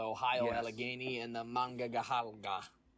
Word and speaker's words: Monongahela: Allegheny and the Monongahela. Mangahalda? Monongahela.